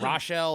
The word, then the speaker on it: New Rochelle: Is it Rochelle or New Raquel?